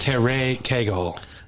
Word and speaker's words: Cagle: always like is this Cherry eagle so you know you know I don't know I don't know anybody who goes by Kegel so you got the wrong number it's pronounced Terre Kegel Terry thank you for